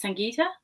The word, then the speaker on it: Sangita: Uh my first name pronounced as Sangita and uh the switcher is not my last name.